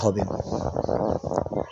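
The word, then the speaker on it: ه: একটা হচছে ছোট হা আরেকটি হল বড় হা। ছোট হার উচ্চারণ হচ্ছে একদম স্বাভাবিকভাবে হা। বড় হার উচ্চারণ হচ্ছে হা। ছোট হার উচ্চারণ গলার শুরু থেকে আসে। হলক মানে গলা। গলার শুরু থেকে আসে। বড় হার উচ্চারণ হচ্ছে হলকের অর্থাৎ গলার মধ্যখান থেকে আসে।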